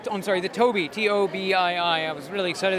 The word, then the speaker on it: Tobii: Those are the GT72 Tabby, which it's spelled, I'm sorry, the Tobii, Tobii.